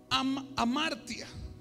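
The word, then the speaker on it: ἁμαρτία: griega que se llama amartia. Amartia, está bueno para un nombre de una hija. Es como entre Amanda y Marta, amartia.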